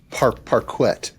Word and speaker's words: parquet: It sounds like parquet. That's how it's spelled, right? P R P A R Q U E T.